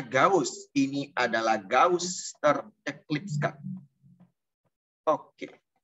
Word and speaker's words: gauche: Tulisannya Gauche, tapi bacanya Gauss.